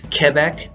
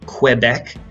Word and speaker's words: Quebec: Yes, it's Quebec, not Quebec, as many Americans say.